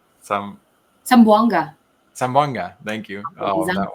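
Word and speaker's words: Zamboanga: I want to go home, but uh yeah, they're down in uh I can't ever pronounce it right. Sambango. Sam Sambanga. Sambanga.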